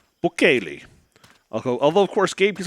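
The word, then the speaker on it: Buchelli: Bukele. Bukele. Although, of course, Gabe keeps on insisting calling it Bucelli, even though that's not how it's pronounced.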